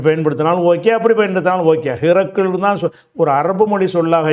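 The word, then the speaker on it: هرقل: இருந்தால் அதுக்கு சட்டம் இருக்காது அந்த ஹிர்க்கல் என்பதை வந்து அதிகமான நூல்கள்ல வந்து ஹிர்க்குள் என்று அந்த ரேக்கு சுகூன் கொடுத்து காஃபுக்கு பத்தகு போட்டிருப்பாங்க இந்த இடத்துல ஹிரக்லன்னு வந்திருக்கு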